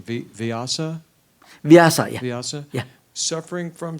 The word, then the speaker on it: Vyasa: Did you say that, correct my pronunciation, Vyasa? Vyasa, yeah.